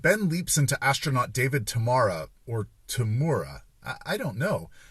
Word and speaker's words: Tamura: In this episode, Ben leaps into astronaut David Tamura, or Tamura. I don't know. Everyone says what sounds like Tamura when they say his name, but the final credits